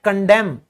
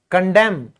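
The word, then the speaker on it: condemn: वह होता है कंडेम। कंडेम। तो यहां भी एन साइलेंट है।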